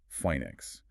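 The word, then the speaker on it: φοῖνιξ: That's spelled Phoanix, and it's pronounced something like phoenix.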